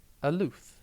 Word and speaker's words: aloof: one word at a time today's word is alth it is pronounced a lth and it is spelled a